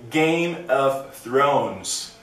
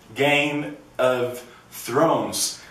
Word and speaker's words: Game of Thrones: pronunciar que é o Game of Thrones Game of Thrones vou ficar em especial nessa porque essa tem o som do th que nem The Big Bang Theory só que ela é